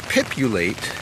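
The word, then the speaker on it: Pipulate: an insider thing because only people who already know python know that you pronounce things with a py at the beginning for Python not a lot of words really start that way but pip you late is just one letter off of populate and that's what you're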